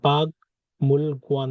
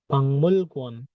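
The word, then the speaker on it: 박물관: তাহলে এটার উচ্চারণ বাগ মূল গুয়ান না হয় কি হবে পাংমুল গুয়ান, পাংমুল গুয়ান মানে মিউজিয়াম বা জাদুঘর, পাংমুল গুয়ান এরকম উচ্চারিত হবে।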